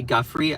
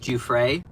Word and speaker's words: Giuffre: So the fact that Donald Trump has like repeated over and over that, Virginia, by the way, I used to say Guffrey. I think it's actually pronounced Giuffre.